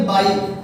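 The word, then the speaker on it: by: यदि मैं यहां पर लिखता हूं बाई, बिल्कुल सही सुना फ्रेंड्स आपने, इसको बॉय नहीं बोलेंगे, इसको आप बोलेंगे बाई। इसकी प्रोनाउंसिएशन बाई है, क्योंकि मैंने अभी बताया था ये बाई।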